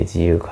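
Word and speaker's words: 自由花: といって自由な花と書いて自由花と読むんですが、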